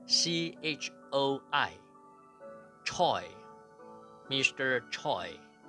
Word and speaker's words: Choi: Chua，或者是 CHOI Choi Mr.